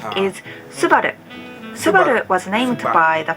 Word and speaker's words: Subaru: English speakers pronounce this Subaru I know this is just how they do but to me as a native Japanese speaker it sounds a little Americanized our pronunciation is Subaru subada was named by